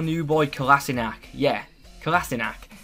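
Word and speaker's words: Kolašinac: new boy kassak yeah kassak I used to call him kinich 2 until Arsenal's Twitter released this video this is how you say my name SE kassak anyway kassak was included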